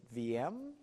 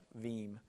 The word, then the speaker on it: Veeam: Everybody asks, you work with, and then they usually pause and say, is it VM? And it's actually Veeam, and it rhymes with team.